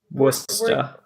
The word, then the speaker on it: Worcester: pronounce Worcester? Worcester.